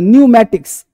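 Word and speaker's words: pneumatics: P silent रहता है एन तथा एस अब एन और एस इससे पहले पी क्या रहता है? साइलेंट। अब देखो पी निमोनिया नहीं पढ़ेंगे। इसे निमोनिया पढ़ेंगे। बीमारी का नाम है। है ना? न्यूममेटिक्स पढ़ेंगे। न्यूमेटिक्स पी नहीं पढ़ेंगे।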